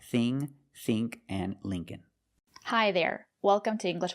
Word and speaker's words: Lincoln: The second L is silent, so it's Lincoln, Lincoln. Remember, the first syllable is a long E like green beans. Lee, Lincoln.